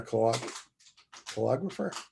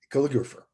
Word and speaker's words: calligrapher: as a poet and a claude polographer is that how you pronounce it jason how do you pronounce that calligrapher calligrapher okay so what